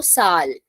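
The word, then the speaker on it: Zahl: then Ulta vice versa if a word is starting from Z pronunciation s so Sal yeah Sal now see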